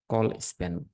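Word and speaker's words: colspan: তাহলে দুটো কলাম মিলে একটা করছে, এই জন্য এটাকে দিতে হবে টিডির জায়গায় আমরা বলবো কলাম স্প্যান, কল স্প্যান উচ্চারণ দিয়ে।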